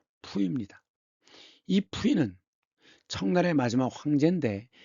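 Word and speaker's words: 溥儀: 한자와 발음은 부의인데 중국 발음은 푸입니다.이 푸인는 청나의 마지막 황제인데 세 살이 되기 전에 황제 자리에 올라갑니다.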